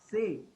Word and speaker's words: ce: Then comes underscore ka, a, essay, not say. Essay. Essay are two different letters. Say means C and essay means S.